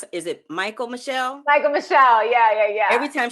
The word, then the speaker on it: Michael Michelle: y'all always feature, is her name, how you pronounce it? Is it Michael Michelle?